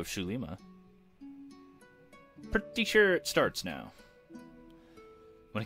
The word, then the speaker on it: Xulima: creator's well I guess instead of zoo which is well thought they'd be pronounced it's shoo-shoo Lima but I think that's it for episode 0 shoe Lima pretty sure starts now